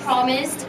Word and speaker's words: promised: First syllable, promised. Drop your jaw.